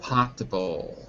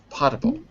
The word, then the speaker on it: potable: 3 syllables. Inedible. No, for water. Edible is for food. For water we say? Potable? Potable. Potable.